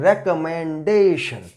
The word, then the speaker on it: recommendation: Now it will be pronounced in that way, that recommend and recommendation. So the word stress will come before D.